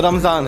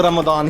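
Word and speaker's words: رمضان: उर्दू में बोल रहे हैं रमजान को तो रमजान है। सही उच्चारण आप एकदम कहें कि अरबिक उच्चारण के साथ आप अगर बोलना चाहते हैं तो वो रमदान ही है, रोमदान।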